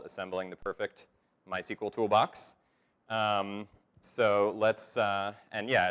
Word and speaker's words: MySQL: the audience to see which way i was going to pronounce it and i was convinced that everybody was going to want me to pronounce it mysql but it was actually split down the middle about 5050 so I just ended up saying my sequel because that's the way I've always said it I sort of blame